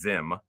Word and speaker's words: Sims: Later in the meeting, herself and Vice Mayor Sims, his name is Zim. It's How not do you spell it?